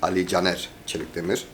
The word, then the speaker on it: Ali Caner Çelikdemir: My name is Ali Çelikdemir, but obviously if you pronounce it in Turkish it's Ali Caner Çelikdemir.